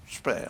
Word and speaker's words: Speer: Alors, on commence donc, on vient de voir Albert Speer, comme ça vous le prononcez. Speer, hein, le faux humble.